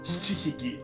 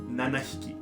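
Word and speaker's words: ななひき: Số bảy thậm chí còn khó hơn, "shichi-hiki" (bảy con chó). Vì vậy, số bảy là "nanahiki" (bảy con chó).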